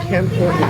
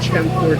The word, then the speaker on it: Campur: Nasi, and it's not Campur, it's Campur, despite the fact it's not spelled with an H, much like roti canai.